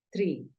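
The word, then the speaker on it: tree: se dice árbol Tri entonces árbol se escribe con doble e por lo tanto tú ya sabes que la doble e suena como una I vamos con la segunda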